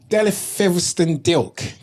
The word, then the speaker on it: Delyth Fetherston-Dilke: Delyth Fetherston-Dilke.